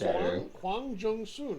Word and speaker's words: Huang Jung Sun: I don't think No, I was close. It's Huang Jung Sun.